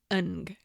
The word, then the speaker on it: Ng: Leonard Lake and Charles Ng which is weird but that's the way to say it. And it's spelled Ng.